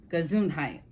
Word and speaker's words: Gesundheit: instead of saying bless you you could say gesundheit that's the way to say it in German